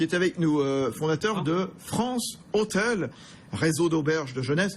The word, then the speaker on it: France Hostels: avec nous, fondateur de France Hôtel, réseau d'auberges de jeunesse. Alors je dis France Hôtel, France Hostels, voilà, on va le prononcer à la française.